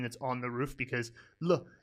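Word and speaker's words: 了: on the roof, because Le is always fifth tone. Now, this character can actually also sometimes be pronounced Liao, and that's its secondary pronunciation.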